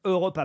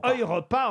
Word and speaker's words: Europa: Alors, j'ai vu sur Twitter que certains me reprochaient ma prononciation de l'Europa Park parce qu'ils veulent que je dise Europa Park. Et moi, je le prononce à l'allemande. Bah oui, Europa. On dit bien Europa en allemand, puisque c'est en Allemagne, on doit dire, je pense, Europa Park.